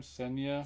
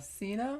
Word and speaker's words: Cena: John since how do you say that name senya Cena Cena was good okay thank you Garcia I've heard about that but I haven't seen it yet I like Jackie Chan I'm not so sure about John Cena Yeah that guy can he's in the other